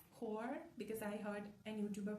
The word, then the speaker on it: Joar: The relationship between Huar, it turns out I've been pronouncing his name wrong. It's not Joar or Jor, it's Huar, because I heard an YouTuber pronounce his name that way.